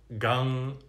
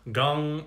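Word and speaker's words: Gaṃ: Om Gang Ganapataye Namaha. Gang is written, transliterated G-A-M, but it is pronounced more G-U-N-G.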